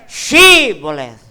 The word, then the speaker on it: Shibboleth: Letter H lang ang nawala, kapatid. Na-disgrasya po ang Ephraimites. Amen. Sabi ng Biblia. Oo. Ang sabi ng mga Gileadites, sige, dadaan kayo if you can pronounce correctly the word Shibboleth.